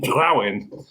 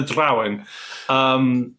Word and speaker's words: Drowin: Listening to various pronunciations is either Dria or something along those lines. But in this world, I call them Drowin. But however anyone wants to pronounce what they're called. It's a fantasy book. It's a made-up word. You can say them how you like.